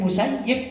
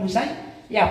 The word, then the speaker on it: Musayyib: Said bin musayyib maka kita bacanya bin musayyib bukan musayyab ini perlu juga ya